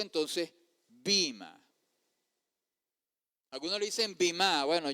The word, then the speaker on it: bema: los Corintios 5:10 es la palabra griega bima y así se pronuncia Bima. Yo sé que al transliterarlo se escribe B e M a bema. Pero esa e tiene un firulete.